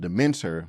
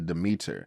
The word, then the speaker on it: Demeter: I kept saying the last voyage of Demeter, but it's actually Demeter.